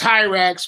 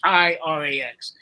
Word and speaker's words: Hirax: So on ours, for the bug repellent, because I thought it was great that something kills mosquitoes, it's Hirax with an I, Hirax.